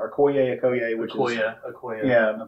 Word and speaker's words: Okoye: You know, Okoye, I think is how you pronounce it. Okoye, which is...